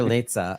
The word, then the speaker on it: Litza: Lita rhymes with pizza. Pizza. There you go. There. That's a better way to know. So, Walter Litza.